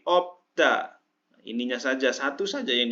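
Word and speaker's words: 없다: Kemudian biup sama siut bukan obsda, tapi opda.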